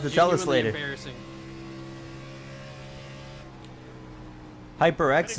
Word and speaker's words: HyperX: HyperX is the pronunciation. Okay. Like the microphone.